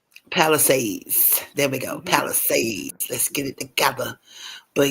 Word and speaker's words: Palisades: Pacific Palisades. Palisades. There we go. Palisades.